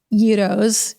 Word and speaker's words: gyros: And there's gyros or gyros, if you're going to say it like not like an American, Yeah. It feels like there's about 6 ways to pronounce that word, depending on where you're from, but they're all delicious.